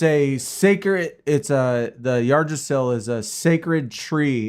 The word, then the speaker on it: Yggdrasil: It's like it's not Yggdrasil, it's like Yggdrasil. But that YGG is really hard for a English speaking person to enunciate.